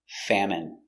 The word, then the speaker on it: famine: in their country pronunciation famine f a fa M fam it famine M famine famine stress on the first syllable famine it's countable a